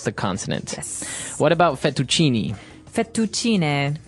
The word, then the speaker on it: fettuccine: What about fettuccine? Fettuccine. Oh, it's fettuccine. Fettuccine. In American, we say fettuccine.